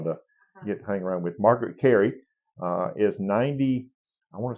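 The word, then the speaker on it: Margaret Kerry: is Tinkerbell say her name one more time Margaret Cary k e r r y k r wow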